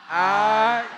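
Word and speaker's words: Ayiti: So it looks H-A-I-T-I. It looks like it does have an H, but it's pronounced I-E-T.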